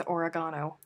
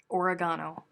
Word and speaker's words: oregano: Henceforth, it shall be known as oregano. The Google tells lies. The Google is a lie, and the devil is inside of it. Oregano. They put the emphasis on different syllables.